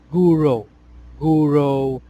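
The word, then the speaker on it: Gouraud: So we can pronounce it Guro shading. Okay, so Guro shading developed by Henry Guro.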